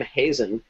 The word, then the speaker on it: Hazen: at columbia with bruce it turns out he pronounces his name hazen even though uh neil tyson called him he's in through the whole episode uh she was working